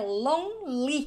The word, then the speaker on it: lonely: Aqui no caso de lonely, o E também é uma letra silenciosa. A gente não pronuncia. A pronúncia correta é lonely.